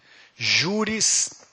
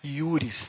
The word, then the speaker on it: juris: Juris tantum. Se você for muito arcaico, saiba que não se pronuncia J em latim, você fala I, né? Iuris tantum.